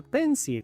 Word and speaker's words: pencil: Muchos hispanohablantes pronuncian esta palabra pencil, que la I es muda y la L se pronuncia como O. Pencil.